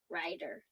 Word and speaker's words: Ryder: So my middle name is, and then my last name is Ryder. It rhymes with spider.